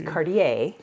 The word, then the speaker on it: Cartier: cardier cardier cardier cardier no it's cardier peer plate with original red presentation box and it has the dust cover it's called cardier it is spelled Cartier it's called cardier and this at estate sale